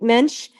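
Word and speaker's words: mensch: Jewish word she's a mench a mench means like a really mench like rhymes with bench but it's it's a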